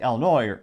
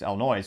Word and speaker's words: Illinois: Because again, you see it like places like Illinois, or if you're not from there, you mispronounce it, it's Illinois, which maybe I'll call